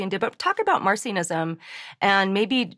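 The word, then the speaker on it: Marcionism: is that mercianism marcianism okay not martianism like little green men but marcianism uh AKA marcian Who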